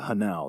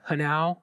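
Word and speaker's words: hnau: Do you think it's a coincidence that Hanau rhymes with Tau?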